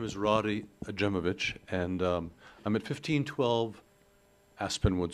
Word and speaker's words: Rody Ajmovich: And I'm trying to read handwriting and pronunciation. It looks like Adamovic. Yep. Thank you, sir. Yeah, hi. My name is Roddy Ajemovich, and I'm at 1512 Aspenwood Street.